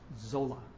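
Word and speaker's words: Sölle: And she talked about a German theologian, Dorothy Zolla. It's actually spelled Soelle, but I'm told it's pronounced Zola.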